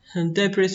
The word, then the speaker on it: debris: Don't pronounce the s, debris so'zidagi sni talaffuz qilmaymiz.